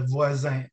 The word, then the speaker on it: Voisin: And you got to tell me if I'm making the pronunciation right. So the Laval Voisin? Yeah, Voisin.